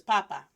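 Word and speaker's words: papá: So the first one, sin acento, without the accent, is pronounced as papa. Con acento, with the accent mark, is pronounced as papa. Do you hear the difference?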